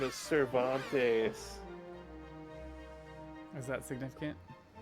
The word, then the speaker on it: Cervantes: The butler's name is Cervantes. Is that significant? His first syllable is serve.